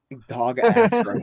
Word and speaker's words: Dogasrok: Dog Ass Rock. But it's spelled DOGASROK, so Dog Ass Rock.